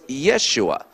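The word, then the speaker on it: ישוע: is pronounced but but in Hebrew it's pronounced Yeshua uh or in Greek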